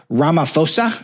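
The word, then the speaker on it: Ramaphosa: the uh the South African president was there Ramaposa I think is how you pronounce it.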